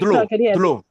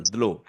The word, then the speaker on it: dlo: Could you pronounce water separately? Dlo. Dlo. So D followed by L. Dlo.